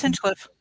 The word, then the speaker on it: Hinchcliffe: So tonight we've got Hinchcliffe. Am I saying it right? Yeah, it's Hinchcliffe.